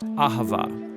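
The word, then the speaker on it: אהבה: It's pronounced ahava.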